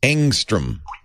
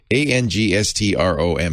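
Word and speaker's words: ångström: kind of new it's angstrom yeah angstrom a-n-g-s-t-r-o-m swedish word so the a has a little halo over it and the o has an umlaut so it's probably pronounced angstrom it's named after a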